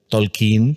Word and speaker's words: Tolkien: si no os aventurándose tolkien tolkin como le gustaba el que se pronunciara yo me recuerdo con